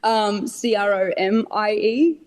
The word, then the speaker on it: Cromie: My last name is Chromie, Cromie. For anyone that is looking, people look at the last name or try and spell it, and there's no H in there.